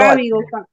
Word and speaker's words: arábigo: Arábigos del 1 al Arábigo. arábigo, Acéntalo, haz el acento en la primera, sí.